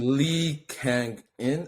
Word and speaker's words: Kang-in: Yeah, he's Lee Kang-in, bro.